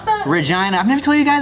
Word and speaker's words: Regina: it's spelled like regina but it's pronounced vagina and i remember the